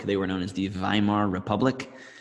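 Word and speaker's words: Weimar: were known as The viar Republic in Germany W's are pronounced as V's that's why volksvagen is Volkswagen they make the Volkswagen Beetle not Volkswagen but anyway uh so viar Germany was the post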